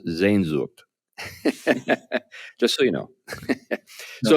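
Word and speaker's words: Sehnsucht: this uh spelling but it's spelled s-e-h-n-s-u-c-h-t it's pronounced zen zhuk just so you know so if you're looking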